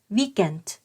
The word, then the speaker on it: weekend: เสียง ยาว เก เ แต่ พอ เป็น คำ ว่า สุด สัปดาห์ ถึง แม้ ว่า มัน จะ มี คำ ที่ สะกด เหมือน กัน เนาะ เอ่อ v a กา แต่ ว่า คำ นี้ จะ ออก เสียง แบบ ภาษา อังกฤษ นะ คะ ก็ คือ weekend weekend ใคร ที่ รู้ สึก